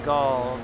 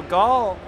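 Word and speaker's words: Ghaul: course led by dominance Gul Gul I was trying to pronounce it earlier when I saw the chair thing it's like go like gol but it's actually spelled out to be gh aul yes that's correct so he's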